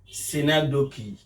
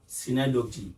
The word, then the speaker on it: synecdoche: Now we are moving to the fourth one, which is synecdoche. People do call it synecdoche. It is not synecdoche. The correct pronunciation is synecdoche.